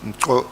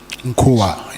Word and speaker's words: Nkua: And you then say Minister Cele advised you that he knew Lieutenant, the spelling, is it Nkoa? Nkhua. Nkua, yes.